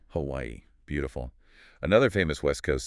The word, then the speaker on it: Hawaii: Pronounce all three syllables. Hawaii. Hawaii.